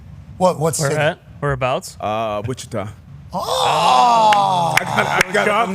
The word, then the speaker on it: Wichita: Yeah, like a little Spanish. The I, the first I, hard. Second I, pronounce that thing as an E. Accent. Yeah, Wichita, Kansas is not a bad spot.